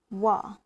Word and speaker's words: は: It's also be pronounced as wa, it's not ha.